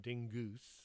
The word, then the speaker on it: Dingus: What can Madame Dingus, pronounced Dingoose, more hoity-toity that way, do for you today?